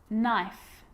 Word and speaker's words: knife: you know this one a k is not pronounced when it comes before an n like knife no knee knock knot